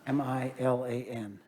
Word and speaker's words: Milan: uh state your name for the record please milan how do you spell that m-i-l-a-n you can call me milan if you need